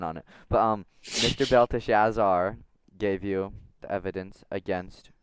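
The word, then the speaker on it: Belshazzar: Belta Shazar, sorry. Excuse me. Um, M Mr. You pronounced it right. Yes. Belt Shazar.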